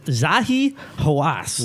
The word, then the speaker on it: Zahi Hawass: I forgot how to pronounce it. His name is So- Zahi Hawass.